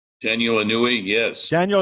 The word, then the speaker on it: Inouye: itself well Danielle I knew we did I pronounce that right Daniel anui yes Daniel Inouye okay he said there exists a shadow government